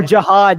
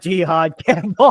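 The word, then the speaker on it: Jihaad Campbell: Or Jiad, not Jihad Campbell. I'm like I realize I've been saying it wrong the entire time.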